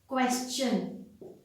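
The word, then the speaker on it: question: में क्या कहते हैं, क्वेश्चन। टी से पहले S, टी के बाद ION, क्वेश्चन, राइट।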